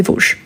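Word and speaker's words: Vosges: vraiment place de V attention V on écrit mais on ne prononce ni le S ici ni le S à la fin place des ves ok entouré unentouré donc c'est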